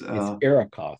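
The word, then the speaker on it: Arrokoth: I think it's called a Arakoth. Is that how you pronounce it? It's Arakoth.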